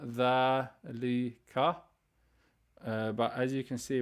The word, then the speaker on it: ذلك: Note 1, ذلك is pronounced ذلك with the alif, but it's when you in writing you don't write the alif. So you pronounce the alif sound, ذلك, but as you can